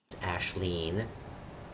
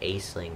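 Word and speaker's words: Aisling: because her name is spelled a-i-s-l-i-n-g i think he was born in the 90s which if you try and say it phonetically it's like a sling or iceling and i was i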